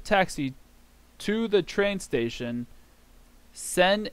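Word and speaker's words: 千: taxi de by means of whoa blue senen sen 1,000 should that's 1,000 is pronounced Isen or sen just sen by itself n unit of measurement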